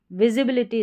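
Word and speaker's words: visibility: अगर इसके दोनों तरफ स्वर लेटर रहते हैं ए इ आई ओ यू में से तो यहां पर एस को हम ज़ प्रोनाउंस करेंगे। तो विजिबिलिटी विजिबिलिटी इसका सही प्रोनाउंसिएशन हो जाएगा।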